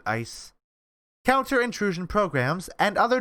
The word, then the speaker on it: ICE: with data i ice it's it's icy but people pronounce it ice counter intrusion programs and